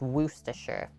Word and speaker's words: Worcestershire: her she's like just so you know it's pronounced worcestershire sauce she's been there before so she let